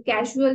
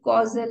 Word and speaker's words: causal: ये कैजुअल नहीं है, ये कॉजल है। कई लोग इसको प्रोनाउंस करने में गलती कर देते हैं। This is कॉजल body, CAUSAL।